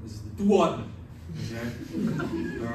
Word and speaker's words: duodenum: is called the, and you got to pronounce the small intestine, the first part, like you're from Brooklyn, this is the duodenum, okay?